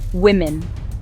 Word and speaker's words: women: Be careful with the pronunciation here. Woman becomes women. Let's practice that. woman, women.